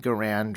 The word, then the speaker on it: Garand: whole bunch of M1 Garand rifles, or M1 Garand rifles, depending on how you say it, and they sold those as military surplus to American citizenry.